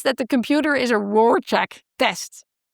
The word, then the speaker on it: Rorschach: Let's say, just say Rorschach. So she says that the computer is a Rorschach test.